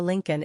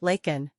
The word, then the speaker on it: Laken: to say her name he called her Lincoln instead of her name her correct name is Laken Mr Biden also referred